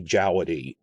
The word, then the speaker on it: Djawadi: name uh sticking close to how it's spelled i'm going to say jawedy i'm not going to be strict about the v thing unless he ever makes